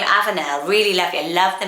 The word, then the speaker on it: Avenel: Okay, for boys, how about the name Avenel? Avenel, I thought that was really lovely, and it means oat pasture. It's spelled A-V-E-N-E-L, Avenel. It sounds more feminine to us because of Nell maybe at the end.